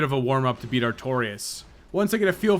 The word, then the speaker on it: Artorias: Now it's time to run through the garden to Artorias, which rhymes with victorious, I've just realized. Oh boy, that damage is not good, and the Avalon really locks you down. Artorias easily punishes sluggish weapons, so this has an inevitable conclusion.